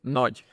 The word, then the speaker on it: Nagy: Nagy.